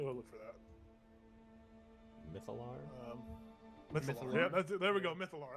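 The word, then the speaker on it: Mythallar: It's called Mythaler. Mythaler. MYTH. I'll just paste it in the general chat. And I think there's a pronunciation guide, so I'm gonna go look for that. Mythalar? Mythalar.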